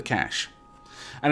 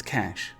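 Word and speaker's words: cache: we can secure the cash and it isn't cash a it's cash trust me I I know how this word is pronounced so I'm going to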